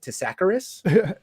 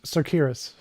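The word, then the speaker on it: Tsakiris: Is it Tacaris? Uh, yeah. Alex Sakuras.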